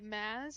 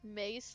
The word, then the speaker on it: Mace: we've been pronouncing it mass and there are several people in our community who are really insistent that it's pronounced Mace like Mason because that's his real name.